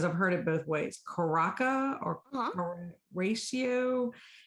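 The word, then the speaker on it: Curaçao: I don't know if I'm pronouncing this right because I've heard it both ways. Curaca or Ratio.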